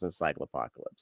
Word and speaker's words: Encyclopocalypse: the podcast they'll go oh that's how you pronounce encycle apocalypse yeah so very excited to have you on